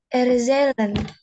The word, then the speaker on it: erzählen: Erzählen. Erzählen. Erzählen. Okay, jadi Z di dalam bahasa Jerman kan alfabetnya membacanya Z. Nah, berarti kalau dalam kata bukan erzählen, tapi erzählen.